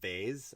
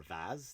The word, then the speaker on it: vase: you know like like a vase or vaz depends how you pronounce it i'm just gonna smack